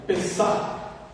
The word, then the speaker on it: Pesach: Pesach. Se escreve Pesach, C-H no final, em hebraico.